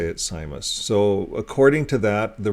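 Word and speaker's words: Seimas: and and uh that's how you say it simus so according to that the resolution says that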